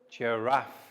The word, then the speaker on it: giraffe: of nadia's flash cards giraffe yes the animal with the long neck now g-raph g soft g sounds like j so nadia will place